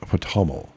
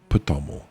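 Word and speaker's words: Ptomel: it into English, Lurquest Paml. Jed. Jed being his title. Lorquest Paml. Or if the P is silent, just TML.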